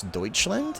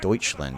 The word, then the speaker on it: Deutschland: I also will tell you a very embarrassing story, which is I had never actually seen or heard someone pronounce Deutschland until I was an adult.